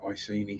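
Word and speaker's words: Iceni: ICD or the economy if you go by what is now perceived to be the correct pronunciation but yeah everyone calls it icini so it's probably going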